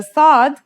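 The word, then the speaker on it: صاد: lesson is s The Sod is basically the strong version of the scene we learned in the last lesson and it kind of sounds like the s in the word saw this sound is pronounced with your throat constricted listen to S anden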